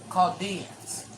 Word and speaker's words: Chaldeans: The H is silent. Okay. Chaldeans.